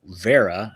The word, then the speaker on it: Wera: Anyway, this is a German tool company, Vera. I guess they pronounce it. I would say Wera, but because I'm American.